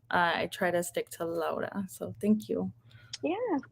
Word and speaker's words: Laura: hi thank you and so my name's actually pronounced laura um others might call me laura but i try to stick to lola so thank you yeah of course yeah so